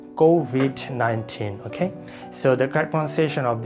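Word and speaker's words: COVID-19: world go with 19 we you say go V 19 but I would say it will be go with 19 there's stress here go with 19 okay so the compensation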